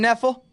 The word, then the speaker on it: Knefel: First guest today is Knefel, with a silent K, that is.